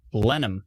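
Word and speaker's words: Blenheim: question Ryan hold on blenham oh it's just blenham blenham no h blenham thanks Scott appreciate it still trying to find Ryan's question where did it go Blen him everybody's telling me how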